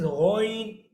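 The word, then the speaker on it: غين: Ghain is also heavy. अब आप बोलेंगे ghain, इसमें तो हमारा लिप्स का स्ट्रक्चर वो नहीं हुआ। You have to just focus the starting point of sound. How did you pronounce ghain? Gha, gha. When you will say gha, so your lips is making the round shape.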